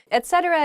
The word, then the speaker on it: etcetera: I hear this ech ech thing a lot etcetera is just used at the end of a